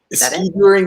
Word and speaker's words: skijoring: How do you pronounce it? Skijoring? Skijoring, yeah.